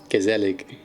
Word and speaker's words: gezellig: am i am terrible gezellig any spanish not spanish unfortunately no no hard g so how is it done it's from the throat g that's that's the bit i